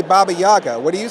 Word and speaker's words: Baba Yaga: Because I say Baba Yaga. What do you say? Baba Yaga.